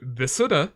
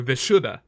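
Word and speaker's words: Vishuddha: the weird one because it can be said two ways it's either vuda or vishuda I've heard vishuda oh I said that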